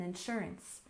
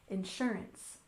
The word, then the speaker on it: insurance: are learning learning English we stress the second syllable in insurance insurance one more time Insurance